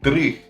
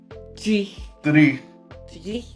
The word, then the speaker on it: dreich: Dreich. I'm still not even saying it right because I have the Australian in me, I think. Dreich. Yeah, you really got to roll your R's as well.